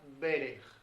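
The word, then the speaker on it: ברך: hebrea que se pronuncia berej. Berej. Braja, berej. ¿Sí? Ahí vemos el parecido en la pronunciación, braja y berej.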